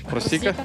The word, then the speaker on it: просіка: питаю про просійку адже саме Так вона і називається просійка просіка просіка просіка тактак саме просійка на і наголос сподіваюсь усі запам'ятали я вчилась